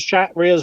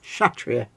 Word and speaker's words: Kshatriya: Yeah, it's Kshatriya. Yeah, see, it's grammar police, isn't he? He's That's how you're terrible, supposed to pronounce it. Kshatriya.